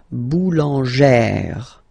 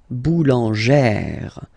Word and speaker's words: boulangère: Okay, so boulanger, boulanger, and then feminine form, boulangère, boulangère. Same thing, don't insist too much on the final E, boulangère.